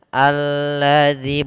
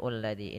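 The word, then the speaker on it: الذي: Maka apabila kita dapati tanda alif di awal kalimat seperti ini, kita baca dengan a. Maka kita bacanya alladzi, bukan ulladzi.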